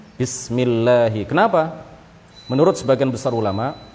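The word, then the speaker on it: بسم الله: Bismi itu nggak ada kan? Jadi ba, setelah ba kemudian sin, kemudian setelah itu mim, ya. Bismillahi.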